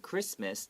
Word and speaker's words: Christmas: Just like Christmas, the CH is not ch. It's a hard C sound.